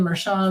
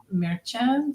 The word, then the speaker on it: Merchan: pronounced his last name everybody saying meran or merchin but I think it's merchan something like that in Spanish anyway um I think